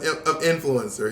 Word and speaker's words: influencer: Oh, Jacob has sent us a pronunciation of influencer. Here we go. You ready? Influencer. Thank you. No, Monet, you're saying thank you without listen. I heard it. Influencer. Influencers. The accent is on in.